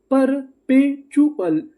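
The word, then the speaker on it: perpetual: PER, ये भी हमारा कोड था, इसको क्या पढ़ना है? पर। PE, पे, TUAL चुअल, परपेचुअल, परपेचुअल, परपेचुअल, परपेचुअल का मतलब होता है लगातार, तो दोनों मीनिंग क्या बनी, रिचुअल, परपेचुअल।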